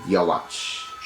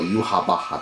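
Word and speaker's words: Yhwach: Yama, I actually pulled either on the second multi or the first multi with Yawach, or Yuhabaha, that's how you say. I always said his name wrong, Yuhabaha.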